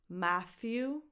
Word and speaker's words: Matthew: Matthew McConaughey. Matthew, ma, as in mad, a, Matthew. Voiceless th, as in the word think, so it's not a t, it's a th. Matthew, you, Matthew.